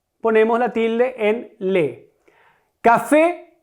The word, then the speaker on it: café: Café, ocurre lo mismo que con sofá, la sílaba tónica es la última, es una aguda.